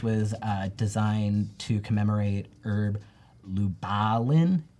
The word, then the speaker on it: Lubalin: So this typeface was designed to commemorate Herb Lubalin. I want to always say Lube Allen, but it's not right.